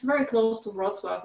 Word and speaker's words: Wrocław: It's Wrocław.